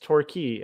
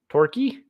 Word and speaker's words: Torquay: like anyhow totally um frank said torquay is pronounced torquay okay torquay but then why the a the a the a y torky okay well anyhow that's a funny sounding name